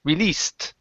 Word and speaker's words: released: instead of released okay give me an unvoiced s s release released least good job okay